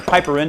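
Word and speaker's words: piperine: Black pepper has a substance in it called piperin or piperin, depending on how you want to pronounce it, which helps with the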